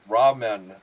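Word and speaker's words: Ramon: says I got I I pronounce it how it's spelled r a m o n Ramen it's r a r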